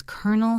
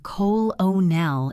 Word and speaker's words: colonel: His name was Colonel Hargreaves. Colonel. And yes, I know many of you were saying Col-o-nel in your essays. It happens every year. The pronunciation is Colonel, like the kernel of a nut.